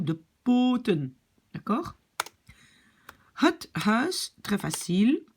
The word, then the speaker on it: huis: Het huis, très facile. Le E, donc le UI, prononcé comme E.